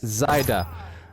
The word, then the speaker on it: Zyda: within three pyrogames saying pally it's zyda thank you i only said it wrong twice you've saved my life